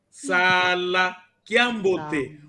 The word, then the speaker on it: Sala Kiambote: Porque se não existir aquele outro A, vai significar outra coisa. Se eu disser Sala Kiambote, estou a dizer outra coisa. Por isso, ao pronunciar, devemos pronunciar muito bem, dizendo Sala Kiambote.